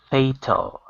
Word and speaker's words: fatal: Fey like day, till like ill. Fatal. Fatal.